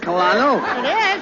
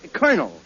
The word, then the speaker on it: colonel: no no you see that word is pronounced colonel colonel yes Colonel uh where did he fight oh my uncle he fought with the original 13 colonies colonies oh Carla you said it was cannoli no can early now make up your mind look look it's very simple in in military parlance c-o-l is pronounced car as in a colonel yeah uh don't you